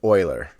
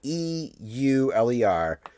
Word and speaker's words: Euler: the Euler wrong cuz it's spelled e UL ER but it's pronounced like Euler like the understood loser